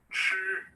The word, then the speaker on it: 吃: 吃 Again, 吃 now, CH, if you have that list, the Hindi letters list, there's a specific alphabet known as CH. Now, that alphabet is pronounced as ch.